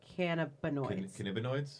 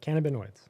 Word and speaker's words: cannabinoids: Cannabinoids? that's right. Yep, Right. you both said it right. Cannabinoids.